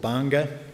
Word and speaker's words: Banga: So there's a group of Liberian churches up in a place called Banga, which you can see there. It's kind of pronounced similar to Bangor, but it's obviously a slightly different vibe.